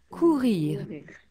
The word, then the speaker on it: courir: Courir. Très bien. Courir. Tour. Run. So would it be pronounced like would it be like coo and then a really strong H like here courir?